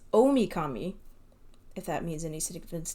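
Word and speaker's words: Ōmikami: about this whole time, uses the same kanji, big or great, and deity. But it's pronounced differently. So it's the same kanji, but it's pronounced differently. It's Omikami, if that means any significance to you.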